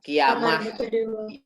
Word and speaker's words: kiamat: Kalau Arab itu kalau ada tak marbuto, bagaimana bacanya? Hak. Hak kan? Kiamah. Nah, kalau Persi itu T gitu. Terbukti kan sekarang bahasa Indonesianya bukan kiamah tapi kiamat. Itu terpengaruh Islam Persi.